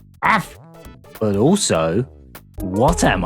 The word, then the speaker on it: AAF: Guess that's how you pronounce it. AF. Like you're barking or something. AF.